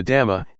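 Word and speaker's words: ธรรม: The damma in Thai pronounced in the same way as the word tum which means to do refers to nature that exists by itself.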